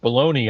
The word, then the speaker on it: bologna: What I said if we knew more why Balagna is pronounced baloney, I think we'd know more about this the the world, the universe.